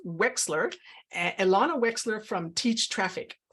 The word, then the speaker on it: Wechsler: to pronounce it, because in my head it's Wechsler, but it's pronounced Wechsler.